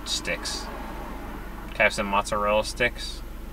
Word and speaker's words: mozzarella: Can I have some mozzarella sticks? No, it's mozzarella. Not mozzarella, mozzarella.